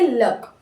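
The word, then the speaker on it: luck: यू का अ वैसे एल का ल सी के सी साइलेंट और के का क क्या हो जाएगा ये लक लक नेक्स्ट हमारा वर्ड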